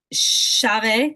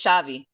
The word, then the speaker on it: chave: about, I want to make sure I'm pronouncing it correctly. Chave, chav, chav, chav, Cl- Close enough. I like it. It's Xavi. Xavi, which Chavi.